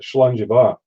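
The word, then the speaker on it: Slàinte mhath: Now, for my American people, they might go, they hear us saying Slangivar. This is how it's spelled.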